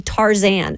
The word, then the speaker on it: Tarzan: It really looks like he's trying to be Tarzan of the jungle. Tarzan? Yeah. Yeah. Yeah. Would put the emphasis on the last syllable.